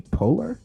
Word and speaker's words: Poehler: And there's a quote by Amy Poehler. Am I pronouncing that Yeah, right?